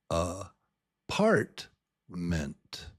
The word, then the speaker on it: apartment: I just say a a partment apartment. You can barely even hear the vowel in ment. It's just ment. apartment apartment. So, part is the strong syllable.